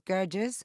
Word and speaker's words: Gerges: IDF soldiers killed joining me now is faras gges uh professor of Middle Eastern politics and international